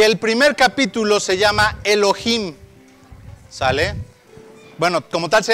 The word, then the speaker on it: Elohim: primer capítulo se llama Elohim sale bueno como tal se llama Elohim Pero bueno ya saben la H la H no se pronuncia sale y el tema